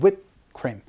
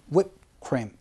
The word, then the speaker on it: whipped cream: 휘핑크림이 아니고요. 영어 발음은 whipped cream. whipped cream. 요렇게 발음하니까 요것도 알아두시면 좋겠습니다.